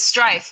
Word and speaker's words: Striph: here i i thought you were going to pronounce your last name because i didn't want to butcher it so oh it's strife i'll say that for you it's strike that's